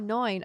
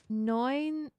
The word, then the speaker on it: neun: Oh, neun. Okay. 29. Yeah. Oh, and then the hiss sound. EU is oi, but more German.